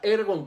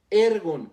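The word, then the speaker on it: ἔργον: en este versículo viene del original griego ergon así como se escucha ergon con acento en la primera e ergon que significa laborar esfuerzo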